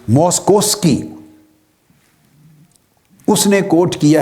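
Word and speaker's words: Moszkowski: है ये एक और साइंस दन है जो मोस्कोवस्की उसने कोट किया है मोस्कोवस्की ने लिखने में इसके स्पेलिंग है एम ओ एस जड के ओ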